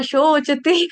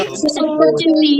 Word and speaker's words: शोचति: हाँ जी, सोचति न कांक्षति हाँ, सोचती नहीं बोलेंगे, शोचती। स सवेरे वाला, स सूरज वाला नहीं आएगा यहाँ पे श शरबत वाला आएगा।